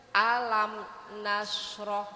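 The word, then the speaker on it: ألم نشرح: lebih harus lebih jelas jadi ibu bacanya Alam Nasroh ya alam Nas Jadi bukan alam Enggak boleh gitu ya Bu ya tapi Alam Nasroh ya Bu ya jadi harus dibaca jelas dan mingkemnya tidak boleh lama-lama Alam Nasroh coba 1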